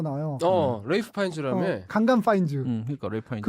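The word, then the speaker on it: Ralph Fiennes: 그게 왜 레이프 파인즈냐면 그게 랄프라는 그러니까 랄프라는 이름 자체가 고어래요. 고어래서 옛날 방식으로 읽으면 레이프인데 우리가 현대에 보기에는 그냥 랄프로밖에 안 보이니까 랄프라고 읽는데 본인은 나 아니다. 레이프 파인즈다. 본인은 늘 그렇게 주장을 해서 그러니까.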